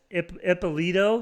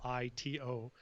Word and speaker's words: Ippolito: Ippolito.